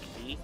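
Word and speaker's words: Kaei: Link, it was this girl called Key, where it's you know, her name is spelled K-A-E-I, so it can still have like 4 letters, so it'll be like Link also.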